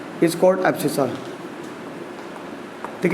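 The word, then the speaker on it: abscissa: ठीक है, तो the coordinate of x is called एब्सिसा। ठीक है, जो भी है स्पेलिंग कुछ भी लिखूँ आप देख लेना, बस एब्सिसा समझ जाना, इसको एब्सिसा बोलते हैं।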